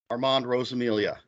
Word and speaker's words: Armand Rosamilia: I'm your host, Eric Smith, and this is My Favorite Horror with author and podcast czar, Armand Rosamilia.